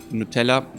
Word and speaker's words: Nutella: also put honey or Nutella which is pronounced very similar like just Nutella honey would be Hoenig